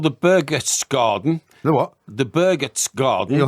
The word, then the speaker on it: Berchtesgaden: I know the local dialect. It's not Berchtesgaden. No, you've got to give me a full point on that. Well, spell it then. We're not going any further. Spell it then if you want to get a full point. Berch garden. Okay. Berchtesgaden. That's the way you pronounce it.